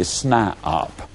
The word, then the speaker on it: SNIOP: toe, and they become what I call a SNIOP. Now that's spelled S-N-I-O-P.